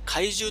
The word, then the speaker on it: kaiju: する敵モンスターは全て怪獣と発音されていましたし英語表記も